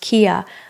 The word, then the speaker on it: Chia: a city called Chia, which in Italian it's pronounced Kia, I thought, here I